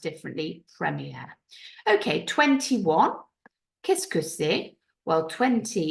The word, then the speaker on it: premier: have in English or the same word but pronounced differently Premier okay 21 Kus well 20 is van now